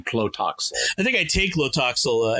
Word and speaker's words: Tlotoxl: Which for some reason the actors can't pronounce consistently. Yeah, I'm not surprised. I heard them saying at various times Totoxl or Lotoxl. They had trouble saying Tlotoxl.